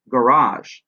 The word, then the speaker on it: garage: We also have some examples in English like parking, garage. You'll notice parking, two syllables. The stress is on the first one. Garage, it's on the second one.